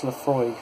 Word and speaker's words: Laphroaig: established in 1815 now so here this is pronounce Laphroaig by the way in case you want to